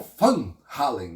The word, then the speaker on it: Van Halen: Mas na Holanda, né? é conhecido como Fun Hallen, né? Porque é assim que se pronuncia o o nome da família, né?